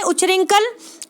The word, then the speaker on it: उच्छृंखल: उच्च रिंकल ठीक है तो यह बात इसका उच्चारण सही करना है तो यह शुद्ध वर्तनी वाला शब्द है उच्छृंखल ठीक उच्छृंखल उच्छृंखल इसको ऐसे पड़े फिर है बाकी शेष